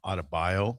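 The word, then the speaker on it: Adebayo: The the the notion of Bam Adabio.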